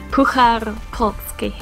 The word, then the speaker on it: Puchar Polski: You have to pronounce it for us. For another... Okay. Puchar Polski.